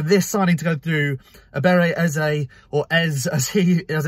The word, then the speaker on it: Eberechi Eze: So for this signing to go through, Eberechi Eze, as it's meant to be pronounced, as I've seen already on his interview